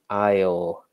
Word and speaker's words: aisle: a lot of people we call that the Isle a lot of silent letters there the aisle so a lot of